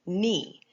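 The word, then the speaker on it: knee: just like the word nee nee begins with the letter K and that K is silent also okay so that's just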